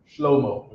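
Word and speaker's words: שלמה: Shlomo, right? That's how the Jewish man pronounces it, right?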